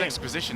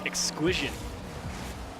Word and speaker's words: Exquisition: We Exposition, didn't we? Yeah, we did, but I actually just looked at it, and it's Exquisition.